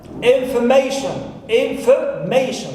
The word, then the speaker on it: information: It is information. So, may is my stressed syllable.